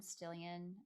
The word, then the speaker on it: Stillion: my instagram it's stillian uh still in rhymes with million it's spelled like million